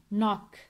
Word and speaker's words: knock: Here we don't pronounce K. K is silent. Knock.